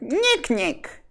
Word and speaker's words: NIK: You have to pronounce that exactly the way I did. NIK. Which is the pronunciation that the Knights of Ni use in the search for the Holy Grail of Monty Python.